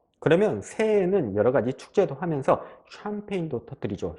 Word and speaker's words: 샴페인: 하기도 훨씬 수월하실 거예요 자 화면에 알파벳을 보시면 알파벳 chan 이게 샴 샴 이렇게 발음이 되고요 알파벳 pagne가 폐인 폐인 이렇게 발음이 되는데요 자 pagne를 영업 발음 규칙대로 읽으면 파 그 이상하게 발음되어 이렇게 영어 발음 규칙대로 발음을 했는데 이상하게 발음되면 그대로 그대로 외워 주시는 거예요 이것을 영어 발음 규칙대로 읽으시면 안 돼요 폐인 pagne은 폐인 폐 이렇게 발음 되는구나 이렇게 외워주시는 수밖에 없어요 그래서 샴페인 이렇게 편하게 발음해 주시면 되죠 자 그러면 여기서 참고로